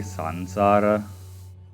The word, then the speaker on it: samsara: the one day samsara I don't know why they call it samsara but it's actually sansara it's a uh the no uh North East uh no not yeah the East pronunciation is the samsara the real pronunciation is tansara ask for the truth